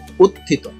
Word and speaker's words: উত্থিত: থ যুক্ত হলে এই চেহারা ধারণ করে সঠিক উচ্চারণ হচ্ছে উত্থিত তারপর আছে কোমল তো ব্যক্তি নাম যদি হয়